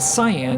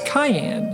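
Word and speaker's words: カイエン: Well, in Japan his name is not cyan. It's cayenne. how it's pronounced.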